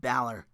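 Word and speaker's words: Bálor: Corey Graves sit-down interview with Joe and Balor.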